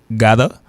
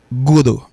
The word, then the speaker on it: gotta: Il prononce gada, gada, gada. Et il prononce godo, godo, godo, godo, godo, godo.